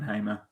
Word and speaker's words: Hamer: I loved how you called him Ben hammer and not Ben Hamer I'm really good at